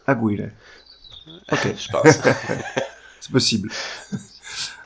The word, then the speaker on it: Aguirre: Yeah, correct me if I pronounce it not good. It's Hector Aguirre, Aguirre.